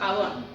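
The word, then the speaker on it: עון: Iniquidad con significa Abón, acento en la O.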